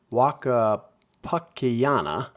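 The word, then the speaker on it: Huaca Pucllana: Pronounced Waka Pakayana.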